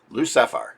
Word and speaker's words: Lou Sapphire: Lou Sapphire. If you say his name real fast, Lucifer. L Sapphire. L Sapphire. It sounds kind of like Lucifer, which gives you an